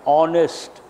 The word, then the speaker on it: honest: error in E&C honnest but H is silent honest no how sound when